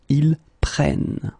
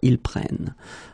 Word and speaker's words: prennent: Okay, keep in mind that you should pronounce it prenons, vous prenez, and then the last one, the tricky one, ils prennent. Okay, ils prennent.